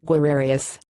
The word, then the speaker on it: guerreros: so there it was Guerrero's pronounced where arias there the best bullpen